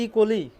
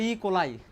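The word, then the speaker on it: E. coli: করো এটা কি ইকলি এটা হচ্ছে ইকলি অনেকে আবার বলে ইকোলাই কোন সমস্যা নাই বলো এসিড বলো এসিড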